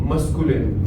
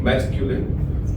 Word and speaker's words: masculine: Someone used the word masculine. I think the pronunciation would go like masculine.